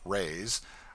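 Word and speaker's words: reis: the lady hails from the portuguese pennies or reys pronounced rays are prodigious it takes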